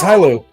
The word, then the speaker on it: Hilo: It is Hilo. It is pronounced Hilo.